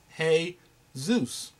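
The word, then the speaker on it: Jesús: Because J-E-S-U-S, brothers and sisters, is pronounced every other nation in Latin America. When you put those letters together, J-E-S-U-S, they don't call him Jesus. They call him Hey Zeus.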